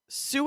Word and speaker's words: Sault: they are not related both do come from French hence all of the letters we don't pronounce uh the word for